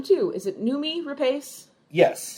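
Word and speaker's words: Noomi Rapace: I think that's what makes I'm going to mispronounce her name too is it numi repace yes numi repace okay that's what makes her portrayal and Rooney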